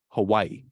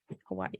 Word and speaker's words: Hawaii: is there really Hawaii it's like Hawaii yeah well there's apostrophe so it makes sense yeah never thought about that Hawaii Hawaii that's how they say it yes that's how they say in the native is Hawaii anyways what do I